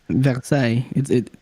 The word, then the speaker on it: Versailles: It is pronounced with a French accent. So is it Versailles with a French accent? Versailles.